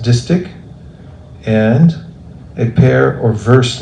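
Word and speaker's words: distich: me Pro a pair of okay distic is pronounced distic and a pair or verse lines a couplet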